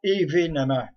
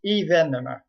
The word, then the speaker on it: événement: une précision d'orthographe français on dit pas événemment on dit événement donc ça s'écrit événement